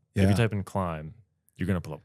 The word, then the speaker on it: Klim: Because Klim is also like a Dutch word, like to climb, like a verb.